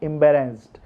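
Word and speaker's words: embarrassed: आई am deeply एम्बेरेस्ड, आई am deeply एम्बेरेस्ड। Okay, एम्बेरेस्ड नहीं बोलना है, ईडी को साइलेंट रखना है।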